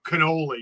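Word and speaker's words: cannoli: two like you know canoli you're not supposed to pronounce the I it's canol where are you coming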